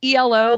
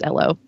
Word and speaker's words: Elo: him is it pronounced elo like jeff lynn's band or ello like a british person saying hello and that's when i learned that it is named after a guy whose last name was ello and so it's just